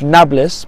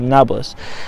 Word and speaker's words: Nablus: Arabic however is pronounced Nablus because there's no real P in Arabic is only a B so they pronounce it Nablus the Samaritan used to